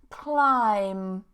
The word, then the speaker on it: climb: Climb. Climb. No B. So you could say it's like this. Climb, like the way that you pronounce it.